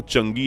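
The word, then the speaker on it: Chang'e: तो भले ही कुछ लोग इस प्रोग्राम को चंगी या चांगी कहकर पुकारते हो, लेकिन असल में इसका उच्चारण होता है चंगा।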